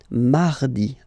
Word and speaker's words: mardi: you don't pronounce it that strongly, this R. Huh? Mardi, mardi, okay? You don't need to go too deep like mardi. No, no, no. You don't move your tongue, so it doesn't sound like mardi. No, it's really soft. Mardi, mardi, mardi.